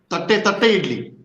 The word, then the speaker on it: Thatte idli: Thatte idli. Is that the right pronunciation? Tatte idli.